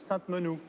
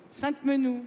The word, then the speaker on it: Sainte-Menehould: varennes et donc j'ai bien tenu et on prononce sainte-menehould sainte-menehould bon voilà parce que ça énerve ceux qui